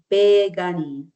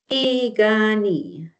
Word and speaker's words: Piikani: They say Pikuni. So, the P's are like you pronounce them with the B's and the K's we pronounce them with the G's.